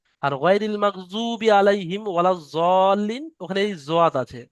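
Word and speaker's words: الضالين: ওখানে এই জোয়াত আছে, ওয়ালা দল্লিন বললে ভুল হবে, সুতরাং দোয়াত পড়া যাবে না, এটা পড়তে হবে জত। পুরোপুরি সদ উচ্চারণ হবে না, আর পুরোপুরি দোয়াত উচ্চারণ হবে না, দুটোর মাঝখানে দত, ওয়ালা জল্লিন।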